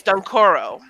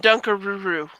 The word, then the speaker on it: Dunkoro: So that's his name. It's Dunkoro. The first time I tried to say it, I called him Dunkaruru.